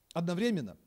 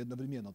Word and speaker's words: Одновременно: Если вы смотрели спектакль Евгения Гришковца «Одновременно» или «Одновременно», так два ударения ставят.